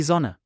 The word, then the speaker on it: Sonne: Die Flasche, The double letters in n are pronounced as a single n, die Sonne, and the h in the last word is not pronounced at all.